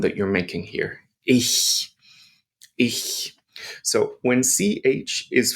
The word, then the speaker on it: ich: It means I or myself, and we pronounce it as ich, ich, ich. And this is the hissing cat.